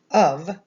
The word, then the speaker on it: of: my colors here remember in the word of right the f makes a v sound right of well in